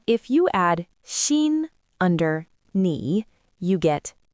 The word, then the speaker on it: 你: One is ni, and the other is nin. Let's practice reading them. Ni, ni, ni, nin, nin, nin. Both ni and nin all mean you. The difference is the tone.